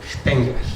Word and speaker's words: Stengler: el Max plank institute él se llama eh Robert stengler así se pronuncia en alemán yo estudi alemán eso